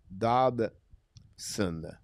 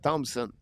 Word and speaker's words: Dobson: And again, my next player, guys, is a new defenseman, Noah Dobson. I'll be honest with you, I have difficult time to pronounce his last name. A lot of people said, you said Thompson.